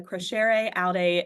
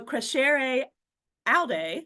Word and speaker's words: Crescere Aude: So Crescere Aude, so we have to kind of go back to our Latin roots here. Crescere Aude is Latin, and it is something